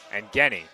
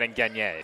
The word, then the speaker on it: Ngeni: Ngeni, not Ngenier.